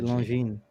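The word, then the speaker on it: Longines: becomes long genes yeah so it is actually long gene uh so you don't pronounce the g and you don't pronounce the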